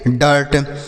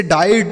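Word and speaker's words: dirt: उसी तरीके से डी आई आर टी इसे हम पढ़ेंगे डर्ट। इसे डाइट नहीं पढ़ेंगे।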